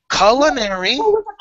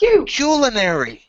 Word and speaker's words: culinary: pronunciations colonary Kary no look two pronunciations two colonary culinary they're both there well a CU ball